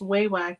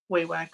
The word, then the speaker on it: Wewak: only reason I know it's pronounced wewak is I got a phone call from them I was wondering that too because I hear people say wack way whack I say way whack so that's good yeah I